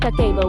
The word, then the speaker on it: kakeibo: Kakebo, pronounced kako, was developed in 1904 by Hanimuk, Japan's first female journalist and later a publisher of a women's magazine.